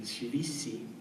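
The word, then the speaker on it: שויתי: So in designing this chant, Shiviti, I was very aware of the Ashkenazic pronunciation, Shivisi.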